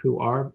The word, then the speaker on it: pu-erh: tea is spelled PU - e rh it's pronounced who are but it's pu-erh tea and the steward is